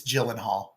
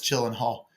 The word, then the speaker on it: Gyllenhaal: I just realized I mispronounced that. It It's It's Gyllenhaal. I know that it's Gyllenhaal.